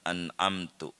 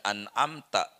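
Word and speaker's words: أنعمت: parah yang kayak begitu kalau bacanya an'amta dibacaan amtu atau dibacaan anti Bagaimana ini kalau sengaja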